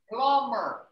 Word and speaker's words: plumber: locksmith glasses mess locksmiths so you see that letter b you don't pronounce it plumber oh this word over